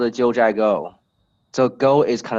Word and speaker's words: Jiuzhai: yeah, and this called the Jiuzhai Valley. And then is to spell that out is Jiuzhai.